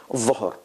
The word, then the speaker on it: ظهر: ظهر. الظهر. الظهر. الظهر. ذهب. ذهب. ذهب. الظهر. ذهب. You see, ذهب. A little bit tongue out. ظهر. More tongue out.